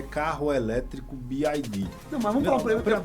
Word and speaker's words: BYD: Qual é a pronúncia correta? BYD.